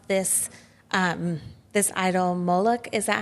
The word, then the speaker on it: Moloch: kind of excited to see how this idol Moloch, is that how you say it?